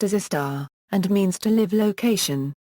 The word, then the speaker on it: istar: In Hiligaynon it is pronounced as a star, and means to live location, compare with the Hiligaynon word puo.